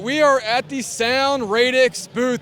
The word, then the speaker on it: Sound Radix: we are at the sound radix booth that I pronounced that right that's correct all right and who